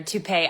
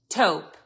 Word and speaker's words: taupe: to never buying another toupee item again. Listen, look, I had a good laugh. I thought it was funny. Might I reiterate, I did not correct this man when he mispronounced taupe. Not one time.